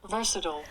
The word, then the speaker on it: versatile: word is spelled v-e-r-s-a-t now if you're american you say versatile but the british say and for this classroom